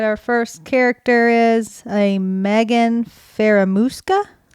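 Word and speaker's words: Magen: it's Megan or Megan I want to say Megan but it's m-a-g-e-n Megan Megan so it's like with a Southern Magnum it's Texas people saying Megan Megan Megan they didn't know how to spell it so they spelled it like it sounded Megan yes they did but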